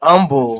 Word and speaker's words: Humble: There was a city called humble. Um umble spelled the same way. Just say umble.